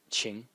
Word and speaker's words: 情: character in the series is pronounced Ching in the second tone and uh it means